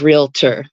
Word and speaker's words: realtor: but the word is realtor it it's as it's spelled um so yeah there's often a an either I or an a um that's thrown in between the L and the T um and I think